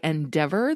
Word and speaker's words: ENDEVR: One is a documentary by Endeavor, that's spelled ENDEVR, and it is how ultra-processed food is slowly killing us.